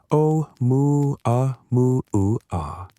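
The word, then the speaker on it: ʻOumuamua: Um, mua mua, pronounced om mu a mu aa.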